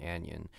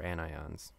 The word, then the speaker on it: anion: that doesn't work because I like to pronounce them in my head as Cashin and an Yin it sounds cooler and sillier it also sounds a lot stupider and it's wrong call them cations or anions not Cashion's are anyons ionic